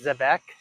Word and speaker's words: Zebec: I don't want to I say Zebec, Zebec. That's how the uh the CEO pronounces it, Zebec.